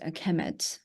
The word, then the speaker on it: Kemet: so it will be, the noun will be pronounced Kemet.